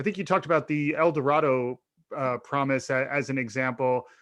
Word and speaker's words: El Dorado: it sounds strange in el dorado they actually pronounce it el dorado it takes a long time to get used